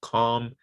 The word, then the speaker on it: calm: goal okay now the l is not pronounced in these words these words it's silent right so there's no hell for kell for talk or the uh the modal verbs would the cool there's no l there they're pronounced half cap talk chalk would could should bomb palm calm salmon and lincoln okay no no l pronounced